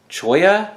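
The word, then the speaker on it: cholla: down some oddball things like Choya I think is how I was told to pronounce this it's from a cactus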